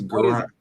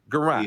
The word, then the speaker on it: Guerrant: Am I saying your last name right, Dakota? Dakota Guerrant? No, you're not saying it right. It's Guerrant. Guerrant.